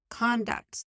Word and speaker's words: conduct: You have to listen very closely because I said conduct, not conduct, right? So conduct is the noun and conduct, the same spelling, but it is the pronunciation of the verb.